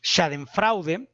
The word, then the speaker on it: Schadenfreude: no domino la lengua, creo que se dice Schadenfreude, como se pronuncia correctamente, pero significa el placer frente al